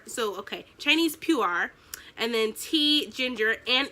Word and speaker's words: Pu'er: So the ingredient is ripe shu, Chinese puree, pronounced pu'er. So, okay, Chinese pu'er, and then tea, ginger, and it is organic.